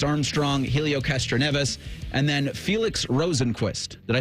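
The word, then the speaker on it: Felix Rosenqvist: Marcus Armstrong, Helio Castroneves, and then Felix Rosenquist. Did I say that? Did I pronounce that properly?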